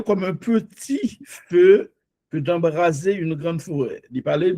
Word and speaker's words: embraser: Pas oublier S, placé dans deux voyelles, il prononce comme Z.